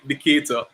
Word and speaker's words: Decatur: but um my younger brothers was from the decatur did i say it right yeah yeah decatur yeah yeah george again ata george i remember